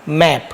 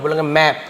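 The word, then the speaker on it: map: का प मतलब प मैप क्या हो गया मैप मेप नहीं पढ़ेंगे मैप तो इससे क्या होता है जब आप इंग्लिश जब पढ़ेंगे तो आप बिल्कुल सही प्र सही उच्चारण के साथ मेप नहीं बोलो बोलोगे मैप हमको पता हैसे मैप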